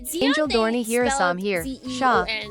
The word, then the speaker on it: Char: Sha, not Char.